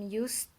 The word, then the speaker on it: used: So this this e, you don't pronounce it when you are pronouncing the words. Of course, you have to write it, but you are not going to pronounce it when you're reading it.